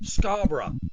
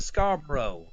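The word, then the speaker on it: Scarborough: So it was so it was Scarboro. Hey, come to Scar Bro. I'm like no. Scarra Scar. They they can't say bur.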